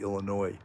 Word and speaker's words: Illinois: know i say sometimes i say illinois it's really illinois that s is silent that's the new